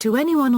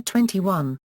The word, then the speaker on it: 2NE1: YG Entertainment in 2009 the name pronounced to any1 or 21 combines the phrases 21st